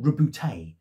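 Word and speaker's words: Roboute: was it you know debate is it robert is it robert is it robot is it rebout i don't think anyone went robute but apparently that's how pronounced he yeah the primark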